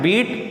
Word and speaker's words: beat: Third form यहाँ पे हम लगा रहे हैं बीट, BEAT। सेकेंड फॉर्म भी इसकी स्पेलिंग में BEAT ही होती, प्रोनाउंसिएशन हो जाता बैट, बीट बैट, बीटन third form इसकी होती है।